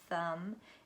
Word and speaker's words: thumb: The B is silent, as in comb. We talked about that, comb, crumb, thumb, and sleigh, E-I-G-H, E-I-G-H, all says A.